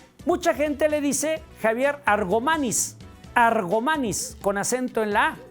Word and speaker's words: Argomaniz: de querétar unero 70 en ningún momento lleva acento en la De tal suerte que la pronunciación no es argomaniz es argomaniz ahora cuál era su nombre